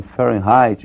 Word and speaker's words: Fahrenheit: Para eles lá eles pronunciam Fahrenheit e nós vamos pronunciar aqui do modo aportuguesado, ou seja, nós vamos falar de Fahrenheit mesmo.